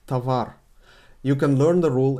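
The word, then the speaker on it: товар: thing happens in tawar written tovar pronounced tavar you can learn the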